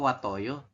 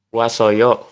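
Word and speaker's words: 왔어요: Berarti dibacanya S. Watoyo. Wa. Wasoyo. Iya, bukan wat oyo ya.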